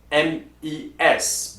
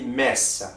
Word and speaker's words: mes: So also we have my plural, which is mes, M-E-S. But you do not pronounce the S at the end. You do not say mes, okay? So you just say mes.